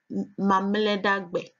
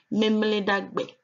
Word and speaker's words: mamledagbe: The Ever word for Saturday is mamledagbe, or others pronounce it memledagbe.